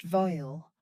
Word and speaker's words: Veil: From the shadowed booth emerged Mr. Rowan Veil, pronounced vile, the star shepherd, his